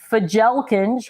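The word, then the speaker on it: Fjälkinge: shelving behind me is fajelkins which I know is not how you actually pronounce it but that's how it's spelled f-j-a-l-k-i-n-g-e for gel kench and the Shelves come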